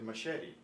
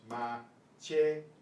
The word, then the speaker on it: machete: For some reason in English we pronounce this CH as SH. We say machete. But it's machete.